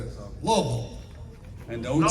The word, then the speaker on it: Louisville: And you said Louisville? No, Louisville. I asked, how do you pronounce it before I say it?